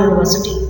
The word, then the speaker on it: university: Sometimes U is pronounced as Y. Try saying these two words. See, notice how the U is pronounced in two different ways.